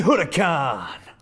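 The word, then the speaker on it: Huracán: Oh, Derek, you don't pronounce the H.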